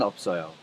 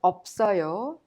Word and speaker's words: 없어요: When you pronounce them, you pronounce the first one as it is, and the second one is prolonged to the next syllable or vowel. So, in simple terms, the first final consonant 비읍 in of 없어요 makes the up sound, and the second final